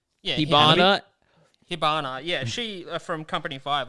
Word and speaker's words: Hibana: in this series like you have uh uh hinaba or how is it pronounced yeah hibana yeah she from company five like she she